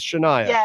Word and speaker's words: Sh'Nia: Hi, I'm pronouncing it right. It is Shaniah.